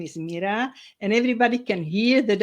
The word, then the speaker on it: Mira: But pronunciation of my name is Mira, like miracle.